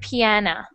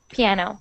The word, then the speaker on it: piano: you're reading and speaking your o's sound like oh so i heard piana mm-hmm okay piano good admission admission good so